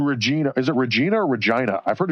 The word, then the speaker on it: Regina: Is it Regina or Regina? I've heard it's Regina. Like it it rhymes with vagina.